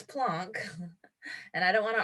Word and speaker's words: Planck: small packets of energy plunk and i've never heard him called plank max plonk and i don't want to argue with professor dave but i'm going to pronounce it plonk uh max plunk he coined the term